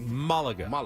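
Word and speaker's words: Málaga: Well, the accent is on the first A, so it would probably be Malaga.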